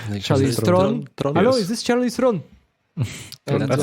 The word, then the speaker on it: Charlize Theron: Hello, is this Charlize Theron? That's how you pronounce her We're name.